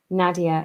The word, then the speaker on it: Nadia: to to her that Nadia is pres pronounced NAD like in had so that was really